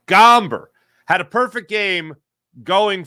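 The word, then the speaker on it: Gomber: uh the Braves picture Rocky's pitcher tonight um gamber that's how you say his name gamber had a perfect game going for himself up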